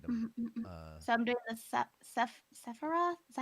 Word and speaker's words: Sephiroth: So I'm doing the Sephiroth. Is that how you Yeah, the pronounce it?